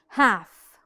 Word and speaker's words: half: a couple of examples half half this glass is half full l no the L is silent then is we did